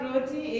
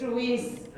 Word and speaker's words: Ruiz: It's not Ruti, it's Ruiz.